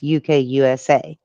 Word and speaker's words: UKUSA: I don't know how you pronounce it properly. It's UKUSA.